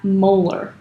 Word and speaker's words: molar: So while molarity is one measure of concentration, its units are a capital M, and we pronounce that molar.